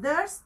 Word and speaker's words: durst: if they Durst and Durst here is rhyming with first thirst and first but this means there